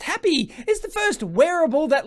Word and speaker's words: Hapbee: the happy choose how you feel happy or pronounced happy is the first wearable that lets you feel